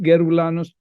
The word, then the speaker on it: Geroulanos: Yeroulanos with a Y is pronounced Yeroulanos all over the world, but Yeroulanos with a G is pronounced Geroulanos, Geroulanos, or Yeroulanos, depending on where you are.